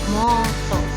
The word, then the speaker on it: mata: Kemudian mata, maka akan tertulis mo dan to, karena kalau dalam bahasa Jawa bacanya moto.